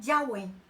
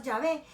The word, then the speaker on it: Yahweh: estudiosa dice es que no se debe pronunciar Jehová, ese no es el nombre. Jehová es una pronunciación latina que se utilizó desde el siglo XVI, o sea, más bien una pronunciación moderna. Cuando escuchamos a los judíos hablar de Dios, le dicen Yahweh. Nosotros le decimos Yahvé y hemos adoptado mejor